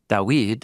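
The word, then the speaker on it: דוד: And isn't it interesting that his name, Dawid, is spelled with the same Hebrew root as those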